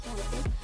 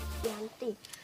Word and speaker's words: Giyanti: Dalam pelafalan Belanda ia disebut Giyanti, dan secara tertulis ia terbaca sebagai Giyanti.